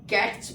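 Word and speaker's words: catch: before letter C एच अगर टी सी एच से पहले आ जाए तो टी क्या हो जाएगा साइलेंट हो जाएगा देन टी विल बी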